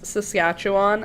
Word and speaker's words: Saskatchewan: I'm always confused because if you just follow the letters, you just sound her out. Sass, cat, chew, on.